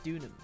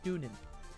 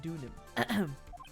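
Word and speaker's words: Deauxnim: I think it was Dunham. Dunham. Dunim. Pronunciation. Larice do Donan. Donan. It says Donan. Wait, hold on. Dunim. Oh, Dunim. Sorry. Dunim. It was Elise Dunim.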